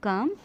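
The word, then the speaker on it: calm: काम यहाँ पे एल साइलेंट है, इसे बोलेंगे काम।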